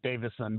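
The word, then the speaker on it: Davison: Let at this point, you won't have to learn how to pronounce her name correctly. It's Davidson, by the way.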